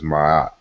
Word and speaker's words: Ma'at: Okay, so we know we should be familiar with the word which we in Egyptology speak pronounce as Ma'at.